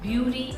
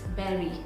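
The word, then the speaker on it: bury: It's not beauty or berry, it's berry.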